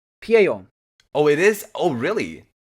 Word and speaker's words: Pieyon: Pion. Yeah, no, it's where you're supposed to do it the Japanese way. Pieyon.